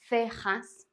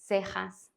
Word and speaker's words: cejas: by E or I, then the C has this sound, like in the word think in English. For example, cielo, cejas. Although in Latin America and some parts of Spain, this can be pronounced as an S.